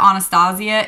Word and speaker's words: Anastasia: like Upp or whatever to pronounce it Anastasia instead of Anastasia the only reason I pronounce it Anastasia is because she pronounces her own name that way I saw her years